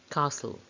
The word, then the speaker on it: castle: castle letter and first which one has a silent t castle when we describe english